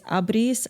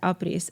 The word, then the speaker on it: Apris: to live and uh apres is actually a marriage of two variations of the pronunciation of the word no matter which part of armenia in the world you are from it's abris apres it brings it all together into apres and it literally means to